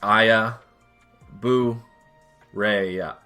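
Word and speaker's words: Aya Brea: Because before I decided to do this, and it's what spawned me to do this, I looked up how to say her name, and it is Aya Bu Rei.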